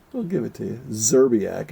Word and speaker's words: Szczerbiak: Szczerbiak, I think is how most people say it. You don't have to, just because you... No, most people say it like I do. Most people that are having a medical are doing that too. You don't, just because you see the S doesn't mean you have to say the S, Mark.